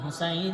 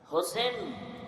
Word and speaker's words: হোসাইন: রাসূলের কলিজার টুকরা ইমাম হোসাইন রাদিয়াল্লাহু তাআলা আনহু হোসেন না হোসাইন আমাদের দুঃখ যে অনেক মানুষ নামটাও সুন্দর করে উচ্চারণ করেন হোসেন না হোসাইন